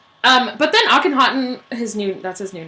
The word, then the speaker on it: Akhenaten: But then Akhenaten, that's his new name. Akhenaten. No, you're trying to make him sound German. Akhenaten. I think that's how you say it, though.